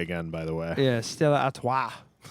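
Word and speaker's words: Stella Artois: by the way yeah Stella at say it like there's a golf ball in the back of your throat uh September 3rd for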